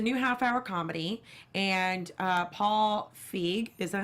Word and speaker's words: Feig: because it's a new half-hour comedy, and Paul Feig, is that how I'm pronouncing his last name right? It's Feig.